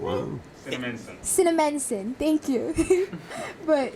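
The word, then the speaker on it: Cinnaminson: I cannot pronounce the city in New Jersey. It's really, but Cinnamon. Wow. Cinnamonson, thank you.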